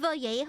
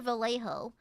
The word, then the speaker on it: Vallejo: So, I'm using Is it VJO or Vallejo? I've heard it pronounced multiple ways. Is it Vallejo or VJO? Cuz in Spanish, double L is a Y sound.